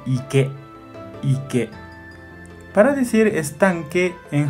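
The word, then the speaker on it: 池: Y pronuncia onyomi chi. Chi. Kunyomi pronuncia ike, ike.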